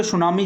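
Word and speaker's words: tsunami: देखिए, सुनामी को इंग्लिश में टी से शुरू करते हैं, क्योंकि इसमें टी साइलेंट रहता है। क्या रहता है भैया? साइलेंट रहता है। तो इसका सही नाम तो वैसे अपन पढ़े तो टी सुनामी होता है, लेकिन टी साइलेंट रहता है और इसका नाम सुनामी है।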